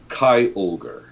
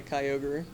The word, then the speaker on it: Kyogre: If I recall correctly, I heard that Kyogre is supposed to be basically transliterated from Japanese for like giant orca, essentially, for Kyogre. No, Kyle would be like Sea King, really.